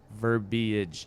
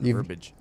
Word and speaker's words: verbiage: it's by the way verbiage is the proper pronunciation of that word verbiage not verbage you've said that before